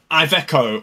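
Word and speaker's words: Iveco: man daff renom and IO or ivco I've I've always called it ivco I've heard people say IO but anyway we're taking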